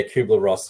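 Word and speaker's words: Kübler-Ross: think it's got a I've always pronounced the cuer part wrong but yeah kuer Ross yeah yeah good um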